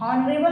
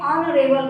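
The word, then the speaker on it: honorable: ऑनेस्ट ने हॉनेस्ट ना बोल के ऑनेस्ट बोलते हैं, हॉनरेबल ना बोल के ऑनरेबल बोलते हैं।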